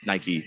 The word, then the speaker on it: Nike: did anything with Nike that's just how that's pronounced Nike the is it the the the Greek or Roman got of of Victory you know but yeah